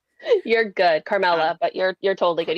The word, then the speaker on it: Carmela: And I realize now I did not check to make sure that I am pronouncing your name correctly. You're good, Carmela.